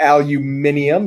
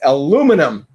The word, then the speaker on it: aluminum: It's not aluminium, you ninny. It's aluminum. Say it like an American.